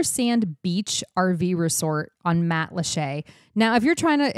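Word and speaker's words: Matlacha: t l a c h yep and it's pronounced Matt Lee and again if you want to St in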